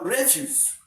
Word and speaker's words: refuse: Okay, now let's assume that this refuse is a noun. You stress the first syllable. Right? Then the second one, you don't stress it.